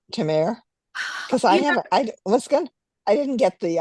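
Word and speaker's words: Temeraire: So in my head, I have a sort of francophone pronunciation of it, which I doubt very much was the intent. Why not? So yeah, Tremere, I think is like how it close to how they said it in the audiobook.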